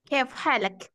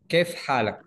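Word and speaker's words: كيف حالك: Kaifa haluk. Coba di open mic semuanya lah. Di open mic aja nggak apa-apa. Tetapi orang Arab Mesir itu mereka bukan kayak Haluk ya.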